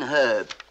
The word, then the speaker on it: herb: and Los Angeles California you drop the H in your part of America I said in herb who pronounce it herb yeah would you say